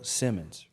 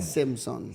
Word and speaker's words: Simson: I didn't have to do much, but we've got today's special guest, Simmons, right? Simpson. Simpson. Yeah. Let's go. So I'm not the best speller. No, pronouncer.